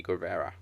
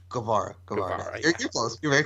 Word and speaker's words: Guevara: appreciates a bein vs Sammy Carrera now pronounce it Guevara I noticed the two